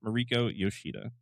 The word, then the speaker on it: Mariko Yoshida: And this week, our subject is Spider Mariko Yoshida. Did I pronounce her name correctly?